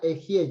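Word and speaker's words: אהיה: En hebreo es ejie, se pronuncia ejie, yo soy. En hebreo ejie.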